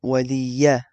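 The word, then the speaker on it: وَلِيَ: And then here for this fatha, you have to make sure you pronounce it correctly. Waliya. You really say the fatha.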